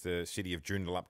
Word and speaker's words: Joondalup: first time and since i've known you you've pronounced the city of joondalup correctly yeah i think it was like joondalup